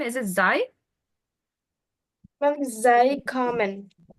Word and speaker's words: Sie: So it's not Zai common. What is it again? It's Z common.